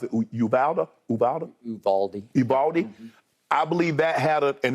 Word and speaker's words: Uvalde: I believe Golden State, and like you mentioned what transpired yesterday, I think you pronounce it Uvalde?